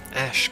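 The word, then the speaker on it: Ashe: another one no sir I should heal her ash come with her yes it's pronounced ash like a special by the way that is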